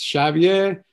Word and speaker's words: Xavier: going to say it's javier castellanos okay spelled with an x which makes it even more complicated but you know it's it's like the j spelling which most people yeah